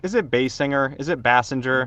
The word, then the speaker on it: Basinger: Is it Bassinger? Basinger.